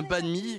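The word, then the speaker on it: bánh mì: Est-ce qu'on peut justement voir comment on confectionne un banh mi? Je prononce bien un banh mi, c'est ça?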